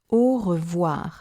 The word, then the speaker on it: au revoir: The two letters OI, as in revoir, sound like wa when they're together. Au revoir.